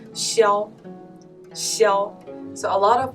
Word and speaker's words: Xiao: It's Xiao. Xiao. So a lot of American guys will pronounce it Shiao, but that's very close, I would say.